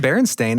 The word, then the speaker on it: Berenstain: So they said Berenstain, and this is the cartoon I remember. And it's even spelled T-A-I-N. That's weird, because I do remember it being Steen.